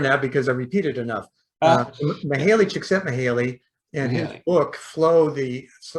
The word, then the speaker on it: Mihaly Csikszentmihalyi: I can never pronounce his name. Mihaly, yeah. Yeah, I had to learn that because I repeated enough. Mihaly Csikszentmihalyi, and his book, Flow, the Psychology of Optimal Experience.